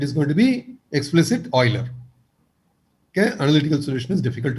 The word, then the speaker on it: Euler: Some of you may have heard Euler and things like that, but I pronounce it as Euler.